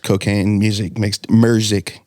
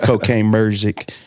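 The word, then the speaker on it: Cocaine Muzik: I could not wait for the next Cocaine Music Merzik. Let me say it right. Cocaine Merzik mixtape to come out, man.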